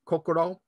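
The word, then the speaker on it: 心: like the heart so in japanese heart is pronounced shin or kokoro it can be uh related in meaning to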